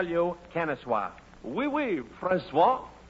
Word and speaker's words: oui: Oi, oi, busser. That's pronounced wee. And I'll call you Kennesaw. Oui, Francois.